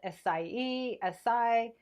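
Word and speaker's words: açaí: Now, there's different ways of pronunciation. I've heard it called acai. However you're going to pronounce it, it's all good. I call it acai, and it's absolutely delicious.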